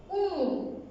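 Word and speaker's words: أُمٌّ: যেমন দেখো, রস্যু ম মরস্কার মু ন মুন, মুন। এবং আরেকটা জিনিস খেয়াল করবে, আবার উচ্চারণ করতে গিয়ে তোমরা কিন্তু দুইটা ম আলাদা আলাদা লিখবে না, এখানে কি হবে? সংযুক্ত হবে।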